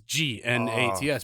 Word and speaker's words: gnat: They are the Nats, spelled with a G. It is GNATS because they are fucking annoying.